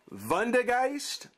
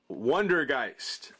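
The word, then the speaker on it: Vondergeist: you pronounce the v vondegeist or wondergeist spectrovund van der geist wonder geist it's all depending on how you want to pronounce that v guys it's all i prefer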